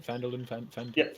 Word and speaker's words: Phandalin: Am I saying it right? Phandalin? Yeah, Phandalin's right.